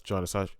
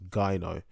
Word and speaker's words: gyno: in my last video i pronounced it as jonas actually pronounced gaino um so basically um